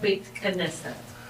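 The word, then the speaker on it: Beit Knesset: It's called bait kesset. Bait kesset. Bait. Ah. Bait like a bait fishbait.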